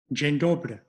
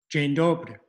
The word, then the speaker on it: Dzień dobry: And here's the basic pronunciation. Dzień dobry. Dzień dobry.